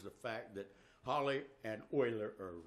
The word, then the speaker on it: Euler: The theory was next adopted by Leonard Euler, who is spelled E-U-L-E-R. So I always say Euler, but he's on me all the time, so his real name is Euler.